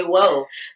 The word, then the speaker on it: WOH: i put woh creations the intent behind it after i saw it spelled out was people would go woe creation but unfortunately i get a lot of things creations um some people just spell it out woh creation why are you doing it just say whoa and the idea was when people saw my work they would go whoa and actually when you